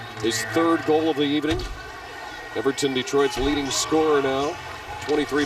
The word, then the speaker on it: Hewerton: His name's spelled Hewerton, H-E-W-E-R-T-O-N, but pronounced Hewerton.